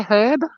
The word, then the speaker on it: herb: h is still there can we say herb herb it's not a silent h it's not herbs oh